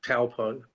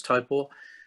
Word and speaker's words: Taupo: but we did um Topo which people call taupo but it's to correct pronunciation is typo it was amazing applied to 20 000 people